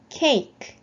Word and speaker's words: cake: 맨 뒤에 오는 E는 묵음이에요. 소리가 나지 않습니다. 그래서 cake, cake 이렇게 발음하시면 되겠죠.